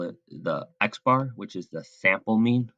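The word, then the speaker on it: x̄: constantly saying the mean we'll call it the x bar which is the sample mean we'll talk more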